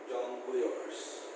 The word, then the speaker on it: jongleurs: And the church of jongleurs. Okay, nomadic entertainers who, aside from performing music, also perform tricks and acrobats. Okay, that is the jongleurs. It's like pronounced like jungle. Spelling is different. Jongleurs.